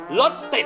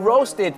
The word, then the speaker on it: roasted: แล้ว การ ย่าง ล่ะ รส ติด ไม่ ใช่ ไง รส ติด คุณ ต้อง ออก เสียง ว่า roasted ครับ เพราะ รส ติด เป็น ภาษา ไทย แล้ว roasted คือ เมื่อ